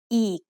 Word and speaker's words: อีก: So this word is pronounced อีก The word อีก means again. Did you notice the tone when I say อีก? It's a low tone.